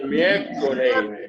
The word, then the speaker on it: miércoles: studying it was that you pronounce most all of the letters.